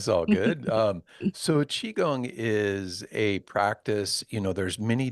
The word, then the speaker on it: Qigong: Yeah, Qigong. Okay, yeah. I'm So sorry. I knew I even looked it up and I still screwed it up. it's all good. So Qigong is a practice.